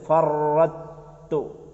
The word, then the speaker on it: فرطت: ആ വാക്കൊന്ന് ശ്രദ്ധിക്കണം. അല മാ ഫറക്ക് ശബ്ദുണ്ട്, ഫറത്തു. അവിടെ ത്വാ ഉണ്ടല്ലോ, ആ ത്വാനെ അടുത്ത താഇലേക്ക് ഇദ്ഗാം ചെയ്യണം. അത് ത്വാ ഉച്ചാരണം പോയി ത്വാഇന് ശബ്ദം കൊടുക്കുക. ത്വാ കളയാം അവിടുന്ന്, നമുക്ക് മനസ്സിലാവാന് ത്വാഇന് അവിടുന്ന് കളയാം. ത്വാ ഉച്ചരിക്കണം, ആ ത്വാഇനെ താഇലേക്ക് ചേർക്കണം. അപ്പൊ ത്വാഇന് ശബ്ദം കൊടുക്കണം, ത്വാഇന് ശബ്ദം. അപ്പൊ എങ്ങനെ വരും? ഫറത്തു, ഫറത്തു.